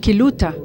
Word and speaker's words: Quillota: And when listening to the Quilota's city mayor, Quillota is said or pronounced Quiluta in our country, so similarities, and it means the house of the moon.